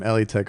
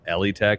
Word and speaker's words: Elitech: It's actually not Elitech. Everybody's been pronouncing it wrong. It's Eli Tech.